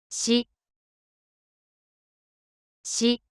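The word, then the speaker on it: シ: し、し、 Pronunciation of character she in Japanese is something like the combination of SHEE in English.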